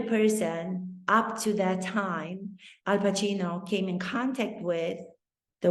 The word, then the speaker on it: Al Pacino: for him that somebody finally pronounced his name correctly they weren't saying pakino they weren't saying pasino he strasbord knew to pronounce his name Al Pacino and he felt as